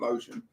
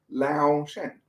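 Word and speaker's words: Löwchen: Karen Sodry, 9-year-old Louchin. I've not heard of Louchin. Have you pronounced that correctly? Lotion? It's not lotion. Lao Shen.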